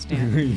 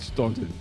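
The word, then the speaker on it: Staunton: I think I'm required to say it's pronounced Stan. Yeah, I know. You have to now. I heard that. I heard that it is. Except Google pronounces it stunted.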